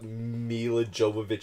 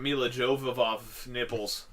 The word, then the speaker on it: Milla Jovovich: __ ] up I up milla jovovich his nipples it's like the people that put